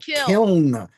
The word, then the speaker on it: kiln: Kiln. You put extra letters in there. Kiln. Kiln. I thought I heard people pronounce it killing.